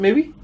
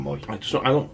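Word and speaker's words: Mooy: No, some people pronounce it Mooey. Even though he says his name's Adam Moy.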